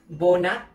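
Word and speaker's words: โบนัส: However, as a final consonant, it produces the T sound, t. That's why bonus is pronounced as bona.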